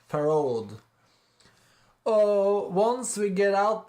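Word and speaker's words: Pharod: It's Pharaoh, and then a D at the end. Farod.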